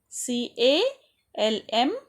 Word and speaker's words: calm: unknown angry opposite calm c a l m calm i already have studied no l silent s laugh cry c